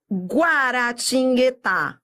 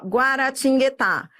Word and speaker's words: Guaratinguetá: ele faz um som esse U faz som se ele não fizesse som aí seria um dígrafo Então você vai ver